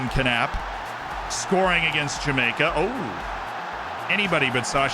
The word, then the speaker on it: Knapp: The K is silent if I was pronouncing that as an American last name. But I was told that in German I am supposed to say Knapp. And as a not German, I figured I would listen to that advice, and he is Julian Knapp.